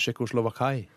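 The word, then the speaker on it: Tschechoslowakei: At tysk uttale av Tsjekkoslovakia syns jeg er kult. Hva er det de sier, da? Tsjekkoslovakai. Det er så rart å bytte på vokalene på den måten.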